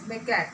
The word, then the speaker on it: macaque: It is pronounced as macaque, that is M-A-C-A-Q-U-E.